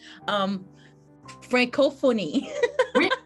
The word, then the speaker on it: Francophonie: Francophonie. Did I pronounce it correctly?